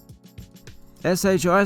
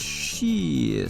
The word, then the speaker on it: SHI: In a previous video I did pronounce the name as SHI Stadium. That was incorrect. It's actually named after a company, and I believe the initials stand for Software House International, formerly Software House International Technology.